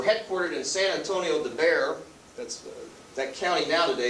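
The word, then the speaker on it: Bexar: in san antonio de bear that's that county now today is known as bear county b-e-x-a-r the x is silent and the troops were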